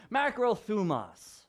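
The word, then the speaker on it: μακροθυμία: great isn't that pretty the word is pronounced macrothumas okay that's what it's found macro fumas basically it means that you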